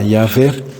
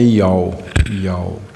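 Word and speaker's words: יהוה: você vai ouvir falar Jeová. Todos estão se referindo a essas 4 letras do hebraico. O som deles, que os judeus menos ortodoxos pronunciam, é Yal. Yal virou Iavé e virou Jeová, né?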